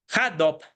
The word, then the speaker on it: Hadoop: Bueno, HandUp, en la pronunciación adecuada, es un software diseñado precisamente para